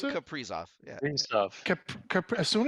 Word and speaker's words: Kaprizov: As soon as they lost Kiprusoff, Kaprizov, how do you pronounce it? Kaprizov.